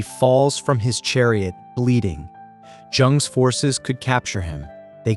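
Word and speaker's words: Zheng: A mid-sized state called Jung, pronounced Young, has a dispute with the Joe king.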